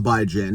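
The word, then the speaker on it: Bijan: that's by Jan Robinson now some people call him bejon but I call him by Jan now this guy could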